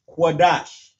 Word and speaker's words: Qadash: Qua, da, and sha turns to dash. Qadash.